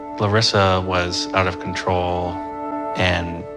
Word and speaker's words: Larissa: People say Larissa, but I like to pronounce it as she does, which is Larissa.